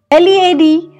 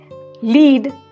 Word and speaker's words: lead: wind wind and wind led lead means to lead somebody to go ahead and somebody follows you like a leader lead on the other hand is a metal so things are made of lead like a bullet whereas lead is what leaders do when you say minute